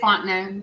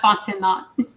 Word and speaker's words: Fontenay: And it is Fontenay. That's how you say her name. Not Fontenay.